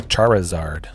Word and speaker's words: Charizard: Oh, there's the foil Charizard, or the Charizard. The Charizard. Pronounce the I. Extra emphasis on that.